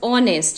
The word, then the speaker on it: honest: Similarly, the word honest. In honest also H is silent.